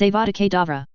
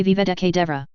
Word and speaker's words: Avada Kedavra: You pronounce it wrong. Sam told him for the dozenth time. It's Avada Kedavra. You say Aviveda Kedavra. It's your accent.